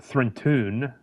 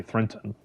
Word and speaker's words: Threntun: The Thrent homeworld, Threntun, T-U-N, is an Earth-like planet similar to slightly smaller and of lower gravity than Terra. But the name Threntun, some people would say Threnton.